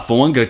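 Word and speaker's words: Fuaga: drafts I see Tois say fanga got that pronunciation down there we go uh fanga tends to be most people's ot2 off the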